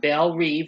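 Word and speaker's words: Belle Reve: force x aka suicide squad teams consistent uh bell reeve that's how you pronounce it i apologize for mispronouncing the first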